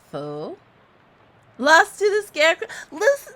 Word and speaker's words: faux: It's pronounced faux.